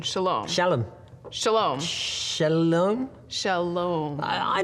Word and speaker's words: Shalom: a me slam Salome she lamb you mean Shalom Shalom Shalom Shalom Shalom